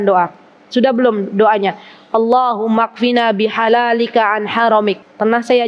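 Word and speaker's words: اكفنا: Kalau mau nulis bahasa Arab ada alifnya, tapi alifnya tuh nggak kebaca. Allahumma ikfina, tapi bacanya Allahumma kfina.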